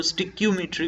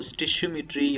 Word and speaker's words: stoichiometry: बहुत सारे लोग इसको स्टिक्योमेट्री भी पढ़ते हैं, तो स्टिशियोमेट्री या स्टिक्योमेट्री दोनों तरह से आप इसको प्रोनाउंस कर सकते हैं।